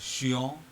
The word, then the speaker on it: chien: In French, CH is always sha. So, for example, the two sample words here, one is chien, which means dog, and chez moi.